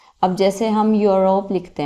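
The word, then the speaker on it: Europe: यूरोप लिखते हैं हम।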